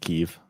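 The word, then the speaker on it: Kyiv: Just FYI, it's pronounced Kiev.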